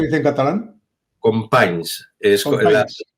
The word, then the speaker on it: Companys: Es Companys. la I pasa adelante, en vez de companyis, que se escribe companyis, pues companys.